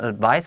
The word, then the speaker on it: advice: 我只想收集一下我们员工有没有什么建议啦，我们可以做一些改变的。然后，But I also have some advice for you. 这个地方老师特别把 advice 发音发得很清楚，后面是 s 的声音，s 的声音。但是呢，它这边的话 advice 如果听到 s 的声音的话呢，就是指名词的意思。不过呢，我也有一些个人的建议要给你就是了。所以同样是要给对方建议，他前面先讲说哦没有，你没做错什么，然后中间插一个哦，我需要收集你的意见，然后顺便跟你讲一下，这样听起来对方就觉得很舒服，而不会说哎，我们得要好好谈谈，对方就会吓得不得了。